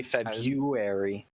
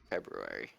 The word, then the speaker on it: February: definitely do I say feary yeah you don't say you don't say the first R just stupid February it's February I feel